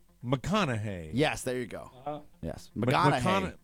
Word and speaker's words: McConaughey: right i thought he said mcgonagay it's mcgonagay mcconaughey mcconaughey mcconaughey yes there you go yes how about let's pronounce it the real way the way it